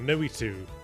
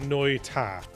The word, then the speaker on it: Noita: Noitu.